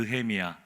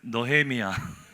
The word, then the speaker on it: 느헤미야: 마시고 편안하게 해서 편안하게 두 번째 특징은요 으 발음이 잘 안 돼 으 진짜 가냥 한번 볼까요 옆 사람과 한번 이렇게 인사해 보겠습니다 느헤미아 미 편안하게 해보세요 노헤미안 노헤미안 하는 분들 있죠 노헤미안 어떤 분들은 막